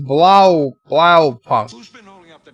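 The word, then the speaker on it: Blaupunkt: Rock Solid says it's pronounced Blau Punk.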